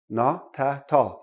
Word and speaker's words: not at all: all right the T So this becomes n tall notall not at all okay say it quickly blend